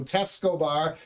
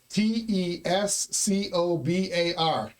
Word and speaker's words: Tescobar: forgot, I know that in Spanish, if you pronounce a letter, it's there. So Tescobar, Tescobar. Doesn't get any simpler than that, right?